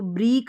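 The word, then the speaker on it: break: अब यह है ए ई ए का उच्चारण यहां पर ए करके हो रहा है और के को हम क पढ़ेंगे तो ब्रेक बन गया इसको ब्रीक नहीं बोलेंगे लिख ले इसको ब्रेक बोलेंगे ना कि ब्रीक क्लियर है अब आगे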